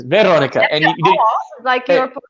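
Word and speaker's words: Veronika: name obviously okay but we don't have the stress on the second syllable we have the stress of the first syllables so we we say Veronica oh see that would take some practice Veronica or so it's Veronica and you roll the r a little bit huh Veronica Veronica interesting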